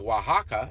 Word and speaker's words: Oaxaca: whatever they call it the city of Oaxaca is spelled Oh ay X a co but the X is pronounced je I don't know if